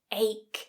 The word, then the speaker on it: ache: So that ending, that CH is not H, but ache.